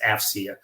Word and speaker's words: AFCEA: we go by our acronym afcea and it's pronounced afia um we bring together government industry and Academia